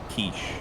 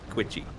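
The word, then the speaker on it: quiche: Kiche. Oh, thank God. Or if you want to piss off everyone at the dinner party, Quitchy. That sounds like it rhymes with squishy.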